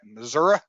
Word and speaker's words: Missouri: mom was born in missouri or if you want to pronounce it right missouri it's the show me